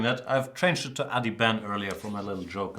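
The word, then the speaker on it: Adhiban: we've been doing that I've changed it to Addy Ben earlier for my little joke about the Ben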